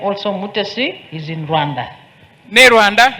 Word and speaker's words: Mutesi: And His Excellency the President said that the name of the bride, Mutesi, it is also in Ankole, but in Ankole they pronounce it a bit differently, Mutesi with the TSI, and that means a favorite child.